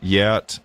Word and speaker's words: Geat: her by the way, you notice Gauti and Yat, which is spelled Geat, look really, really similar.